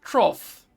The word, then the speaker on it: trough: Troll is pronounced trough. Of course, it is like cough, right?